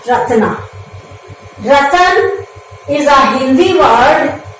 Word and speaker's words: Ratna: Ratna, it is pronounced as Ratan plus R, Ratna.